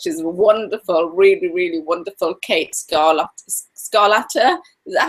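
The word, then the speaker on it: Kate Scarlata: today's guest because she's wonderful, really, really wonderful, Kata Scarlata. Is that how you pronounce it, Kate?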